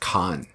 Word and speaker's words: Khavn: Khavn. Oh, and it's pronounced Khan.